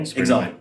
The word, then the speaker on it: Xalt: Exalt. Exalt. Okay. How do you spell it?